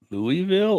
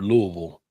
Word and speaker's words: Louisville: Louisville or Louisville? Louisville. He says Louisville. Louisville. Actually, he says Louisville. I never say Louisville. Yeah.